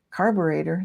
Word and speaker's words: carburetor: Carburetor, that's pronounced like alligator, kind of. It would rhyme.